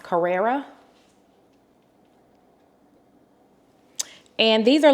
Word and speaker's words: Carrera: So the first pair are I believe the brand is pronounced Carrera.